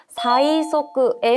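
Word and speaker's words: 催促: 그래서 사이소크의 형태로 기억해 주시고요. 밀추자는요. 추천하다 할 때 추천에 사용을 해요. 스이센이라고 읽게 됩니다.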